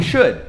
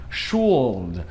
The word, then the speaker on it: should: Então, as palavras que eu vou mostrar pra vocês aqui, na verdade, pra gente é difícil perceber que não tem som de L, porque a gente puxa pro som de U.